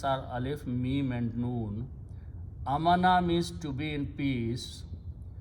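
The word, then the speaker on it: آمَنَ: Two alifs are written by one hamza and alif and pronounced as a. This is amana, this is amana.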